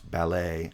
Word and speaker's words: ballet: least in american english there are some varieties of british english that pronounce ballet as ballet with initial stress because it it's been